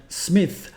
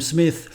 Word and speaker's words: Smith: for correcting my pronunciation I used to call him SMI but in in future I will call him Smith uh then we played